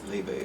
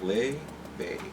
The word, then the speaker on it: Laufey: Her name is Laufey. It's pronounced like Laufey. It's an Icelandic name.